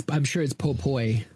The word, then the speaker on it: Popoi: Oh, I'm sure it's Popoi. I have no clue how that's supposed to be pronounced, honestly. I'm pretty sure it's Popoi, like with an oi.